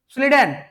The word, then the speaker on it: Schleiden: भाई शॉन का स्पेलिंग देखो, SCHWANN, करते रहो याद उसको। स्लीडन SCHLEIDEN, हो गया भाई, यही तो है बायोलॉजी।